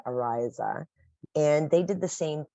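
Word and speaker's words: Araisa: east coast thank you a-r-a-i-s-a but they pronounce it Ariza and they did the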